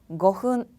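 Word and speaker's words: ごふん: 거흔.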